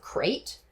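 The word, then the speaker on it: krait: So, another snake that will also have these effects are various forms of crate. K is spelled with a K like a cool kid. Crate.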